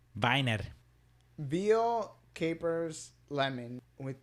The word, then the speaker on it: Wiener: I ended up going with their Weiner, spelled with a W. Kind of looks like wiener. Looks exactly like wiener. It's Viner.